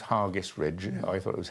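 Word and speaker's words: Hergest Ridge: And Hargest Ridge, I'm told it's pronounced Hargest Ridge. I thought it was Hairgest Ridge, just outside Kington.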